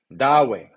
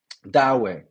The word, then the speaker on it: Dawe: No means Dawe. That's spelled Dawe. Dawe.